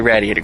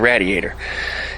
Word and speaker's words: radiator: the coil yes radiator I'm going to say radiator cuz it rhymes with gladiator I don't want to